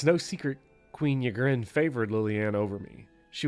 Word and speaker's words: Ygritte: Yeah, Ygritte is fine. Ygritte? Yeah, Ygritte is fine. You can do both, honestly.